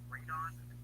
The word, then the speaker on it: radon: And this was radon.